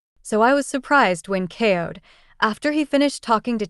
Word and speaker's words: Aoud: Aoud, whose name rhymes with coyote, was supposed to be in a rush.